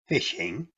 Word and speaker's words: phishing: its most basic form phishing pronounced fishing is a scam in